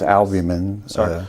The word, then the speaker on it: albumin: is re combinant human albamin it's made it's albamin reccombinant human albamin that's a a lb b u m i Yeah.